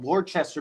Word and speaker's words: Worcester: So in Massachusetts, there's a city called Worcester, but they say it like Worcester.